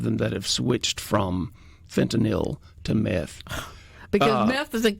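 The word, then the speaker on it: fentanyl: know you know does it's not fentol Mary it's fanil n y l yes that's exactly I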